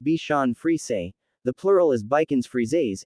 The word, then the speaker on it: Bichon Frise: kids and adults alike the bichon frise pronounced b sean free say the plural is bikin's